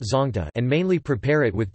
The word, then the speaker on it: Zawngtah: The Pate tribe of Churashanpur district, Manipur call it zonta, pronounced zongta, and mainly prepare it with chili peppers and a special fermented pork called sathu, and called it zonta meh.